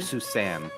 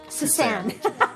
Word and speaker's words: Susanne: Well, it's because her Suzanne is not spelled with a Z, it's spelled with an S. S-U-S-A-N-N-E. So I'll just call you Suzanne. Suzanne.